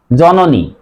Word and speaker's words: জননী: বর্ণের সাথে ওকার হবে, সে কারণে উচ্চারণ হবে জ নয়কারে নো, জ নো নি, জননী।